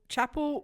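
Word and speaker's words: Chappell: bear with me Chapelle Chapel Ron I watched her on Tik Tok and she said Chapel so Chapel R you know that um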